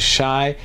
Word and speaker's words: Shy: of time massage and my name by the way if you're brand new to this channel is shy it rhymes with Thai and I just want